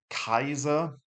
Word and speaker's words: Kaiser: the big b thing kaiser a i could also have been ei I does sound like it, but no, it's just an AI here. Mah, there's that sort of soft ch in the middle.